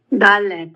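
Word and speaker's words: דלת: Dallet. Dallet. That is the dallet. Very good. It's also gakat. Got the dot there. Without the dot, d with a dot. D. Hard d sound.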